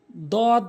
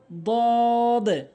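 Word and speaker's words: ضاد: এরপরে আসুন দদ ভুল উচ্চারণ, দদ ভুল উচ্চারণ, দদ দদ সঠিক উচ্চারণ, দদ সঠিক উচ্চারণ। জিহ্বার গোড়ার কিনারা উপরে মারির সঙ্গে লাগাবেন, দদ দদ এভাবে।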